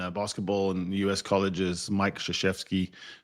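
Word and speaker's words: Krzyzewski: There's a great coach in uh in basketball and US colleges, Mike Shasheesky. Don't try to spell that name uh and think it's going to be Shasheeski because it starts with a K.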